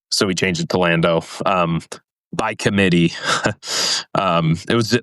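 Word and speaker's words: Landeaux: But I end up liking the name Lando. Yeah, I think it was a great choice, especially because it's spelled E-A-U-X, which is just such a, land and then dough, but the dough is E-A-U-X.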